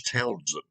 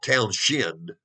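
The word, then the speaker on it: Townshend: the name of charles townsend let me spell that one for you t-o-w-n-s-h-e-n-d now it looks like it should be town shin right no it's not it's townsend townsend was prime minister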